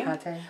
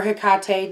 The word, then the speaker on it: Hecate: Hecate. Or Hecate, depending on how you pronounce the syllables.